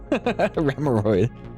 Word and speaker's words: Remoraid: Remoraid. Or Remoraid. Sorry, I always pronounce it wrong. Because I want to say it's like a hemorrhoid. Remoraid.